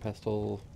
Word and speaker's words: pestle: Mortar and pestle here. Mortar and pestle, really. The T is usually silent, honestly. I just, for some reason, I keep pronouncing it.